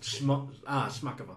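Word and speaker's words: Chmakova: The creator's name is Svetlana Kmakova, is how I would pronounce it. I'm not sure how it's actually pronounced. She writes stories. Svetlana Kamikova. Shmakova. Oh, Shmakova. Yeah.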